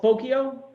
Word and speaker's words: Spokeo: when there's a company called spokeo rhymes with tokyo that's how they used to sell it and spokeo this is this is what their website looked like circa 2006.